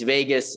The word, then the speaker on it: vagus: that vagus nerve and is vegas uh it's not spelled like las vegas just in case you're wondering it's it's vagus so so just you